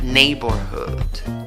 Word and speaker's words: neighborhood: ¿Cómo pronuncias la palabra neighborhood? Neighborhood, ¿ok? Le pones fuerza a la primera sílaba y a la última, pero la que va a ser más prominente es la primera.